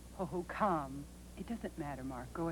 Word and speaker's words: Hohokam: Indians how you say I believe that tribes name is pronounced oho come it doesn't matter mark